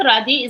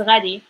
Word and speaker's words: غادي: It's not رادي, it's غادي.